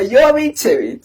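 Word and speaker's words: Jovićević: del Marinkovic, es Marinkovic Yovichevich y dice así Wikipedia que se pronuncia Yovichevich, o sea, tú puedes ser más croata que eso.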